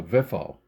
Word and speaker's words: VFO: that is attached to also commonly pronounced in the ham world as a vifo as a vifo.